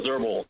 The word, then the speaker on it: Zerbel: may begin hello Senators my name is zerbel j-o-s-h-u-a-z-e-r-b-e-l I'm a retired CSUN College of scientist